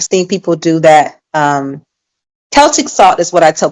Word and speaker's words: Celtic: It sounds K, but it's uh spelled with the Yes.